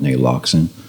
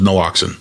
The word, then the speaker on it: naloxone: name Narcan, and we're going to call it Naloxone.